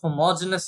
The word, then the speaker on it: homogeneous: reason, whenever I wrote homogeneous in the last video, I forgot the E there. I really don't know why. Okay, so probably because the E is usually silent when we pronounce it.